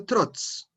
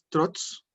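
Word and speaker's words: trotz: Si tienen preguntas, la pronunciación de trots, así, trots. La Z es muy como la Z española, ¿cierto? Entonces, trots. Es bien pronunciada la Z.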